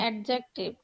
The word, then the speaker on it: adjective: অ্যাডজেক্টিভ হয়, Adjective. হিসেবে ব্যবহার হয়। এই যে এখানে একটা ডি আছে, এই ডিটা হচ্ছে সাইলেন্ট, আমরা পড়বো না।